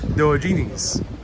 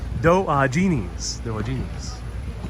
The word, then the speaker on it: Diogenes: Ava says it's Diogenes. Accent is on the second syllable. Diogenes.